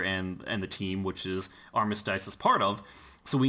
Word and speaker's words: Armistice: You didn't say Armistice. It's Armistice.